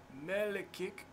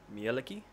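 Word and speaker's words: Mielikki: hold on, I need to pronounce this right. Melikik, in the southern part of the city. M-A-L... M-I-E-L-I-K-K-I. Sorry, I don't know if I'm pronouncing that right. M-I-E-L-I-K-K-I? M-I-E... Yep. L-I... Yep. K-K-I. So, Mieliki?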